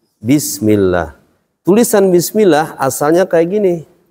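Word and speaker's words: بسم الله: Ini yang tadinya domah berubah jadi kasroh dia, karena ada huruf ba, huruf jar. Baca gimana? Bismillah.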